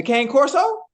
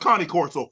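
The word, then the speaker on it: Cane Corso: where it originate from the Kango the the K Corso it's it's pronounced Connie Corso but okay go ahead take off I I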